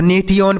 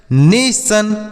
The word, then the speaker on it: nation: जैसे यहाँ पर है NATION तो नेटियन पढ़ेंगे, नेटियन नहीं ना, गलत प्रोनाउंसिएशन हो जाएगा। तो इसे इस तरीके से पढ़ सकते हैं नेशन, मोशन, लोशन, एक्शन, मेंशन।